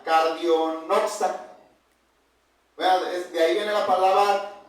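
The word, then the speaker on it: καρδιογνώστης: Y esa palabra en griego, hermanos, se pronuncia cardiognosta.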